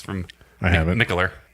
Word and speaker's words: Mikkeller: Mikkeller.